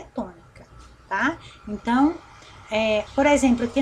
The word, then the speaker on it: tônica: Se nós fôssemos trabalhar só essa palavra aqui, sílaba, qual delas é a tônica? Presta atenção na sílaba, menino.